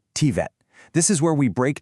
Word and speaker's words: TVET: And just so we're on the same page, that's pronounced TVET.